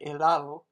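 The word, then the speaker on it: helado: and in the word elado you don't pronounce the h at all in spanish you pretty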